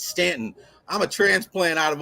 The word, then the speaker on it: Staunton: It's not Kazies, it's not Buchanan, it's Buchanan, it's not Staunton, it's Stanton.